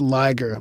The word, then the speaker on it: Liger: read my camping story it's lier like tiger as in the words